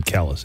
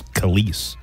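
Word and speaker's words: Kelis: I thought it was Kellis. Honestly, I went this entire time thinking she pronounced her name Kellis. It's Khalees.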